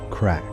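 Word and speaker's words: craic: The Irish call this tradition crack, pronounced crack.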